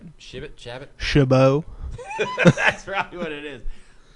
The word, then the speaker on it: Chabot: stepen chabat Chabot Chabot Chabot shabo that's probably what it is uh actually it's pronounced a shabo the tea is silent had cell phones and